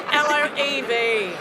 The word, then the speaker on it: LOEV: My last words to the whole world is, by the way, it's LOEV. Well, we have so many people spelling our name wrong, but we like it.